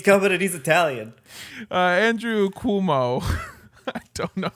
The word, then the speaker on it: Cuomo: New York Governor Andrew, and I've just been informed by James that it's pronounced. How did you say it? Cuomo? It's Cuomo.